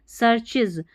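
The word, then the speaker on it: searches: एंड सर्चेज, देखिए सर हो गया, इसको सी नहीं पढ़ना, सर SEAR सर, और फिर चीज, सर्चेज का मतलब खोजना, ढूंढना।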